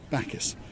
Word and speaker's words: Bacchus: Bacchus.